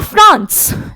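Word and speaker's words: français: यहां पर जब हमने कोई भी वॉवल नहीं था, एंड में सिर्फ एक कॉन्सोनेंट था, तो हमने फ्रांसे बोला, हमने एस का प्रोनाउंसिएशन नहीं किया। लेकिन यहां एस के पीछे ई था, एक वॉवल था, तो हमने बोला फ्रांसेज।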